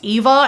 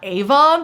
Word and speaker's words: Eva: I also found out through the audiobook that her name is pronounced Eva and not Ava.